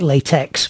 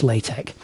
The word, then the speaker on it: LaTeX: a language called latc I know it looks like latex but actually it's pronounced latek you see the E